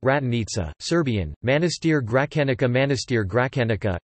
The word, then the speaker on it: Gračanica: Gračanica Monastery, pronounced Ratanica, Serbian, Manastir Gračanica, Manastir Gračanica, Albanian, Manastiri I Gračanicis, is a Serbian Orthodox monastery located in Kosovo.